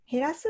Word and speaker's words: 減らす: まずこれ読み方どうでしょう ? 減らすと読みます。減らすは少なくするですね。